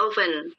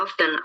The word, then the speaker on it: often: Open bacanya of bukan often.